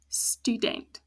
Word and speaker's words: student: Whereas student, 2 syllables again, the U is open, ends with the vowel, stu, not student. The E once again closed, so it's a short sound, student.